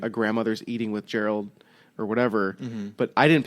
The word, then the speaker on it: Geralt: So to even like to look at the word and say, I think you pronounce that Gerald or something like that. I don't know. But yeah, it's Geralt. I think Geralt.